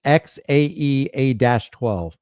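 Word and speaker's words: X Æ A-12: part X stands alone AE is pronounced like Ash and a12 refers to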